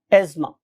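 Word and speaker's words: asthma: यानी कि अगर आप सही प्रोनाउंसिएशन सीखेंगे तो ये एज़मा है, लेकिन बहुत से लोग इसको एज़मा और बहुत से लोग इसको जोर लगा के एस्थमा भी कहते हैं, but true pronunciation is एज़मा, right.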